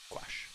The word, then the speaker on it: gouache: the non-valveston teach said uh yeah gouache g-o-u-a-c-h-e watch and uh if you're International I guess would